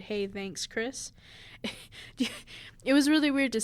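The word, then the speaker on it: Khris: The H is silent.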